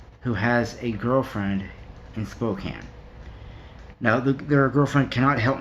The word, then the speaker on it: Spokane: thank you for correcting me on how to pronounce it it's Spokane not Spokane I don't want to get beaten up by